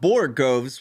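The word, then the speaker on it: borogoves: of justice and after hearing him talk about borgoves which is how you actually pronounce it I found a couple of interesting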